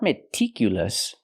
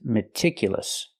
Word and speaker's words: meticulous: open meticulous not meticulous I cannot use a long e like green beans I need a short I meticulous a again it's